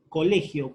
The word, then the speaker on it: colegio: Le, muy bien, porque es aquella que se pronuncia con más énfasis. Colegio, por lo tanto, le es la sílaba tónica.